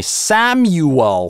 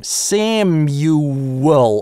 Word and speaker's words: Samuel: вас в словаре, но большинство американцев говорят не Samual, хотя некоторые так говорят. Большинство произносят здесь дифтонг . Перед [n], [m] бабочка у нас превращается в в американском английском. Samuel – а здесь у нас linking [w], потому Sam-you, you это у нас всегда долгий звук,